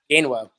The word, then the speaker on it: Gainwell: Now, how do you pronounce Kenneth's last name? Gainwell? Gainwell.